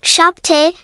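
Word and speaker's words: șapte: sase, pronounced like shish, sapt, pronounced like shapte, opt, pronounced like opt, nua, pronounced like noa, zis, pronounced like zeche.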